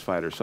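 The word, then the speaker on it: FighterZ: somebody said it was fighter so I'm gonna go with that Telmo says it's officially pronounced fighters yeah but Z because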